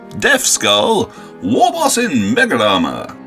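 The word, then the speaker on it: Deathskulls: Next up is Slev, with his Death Skull, which I will pronounce Deff Skull, Warboss in Mega Armor.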